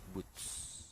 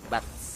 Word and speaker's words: Boots: Boots. Tadi ada yang koreksi bacanya Boots. Boots. Bukan Bats. Emang Boots.